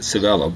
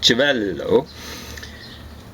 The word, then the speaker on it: Civello: Note that the description of Ruby's close association with Dallas Mafia boss Joseph, they might mispronounce it Civello, but it should be something like Civello.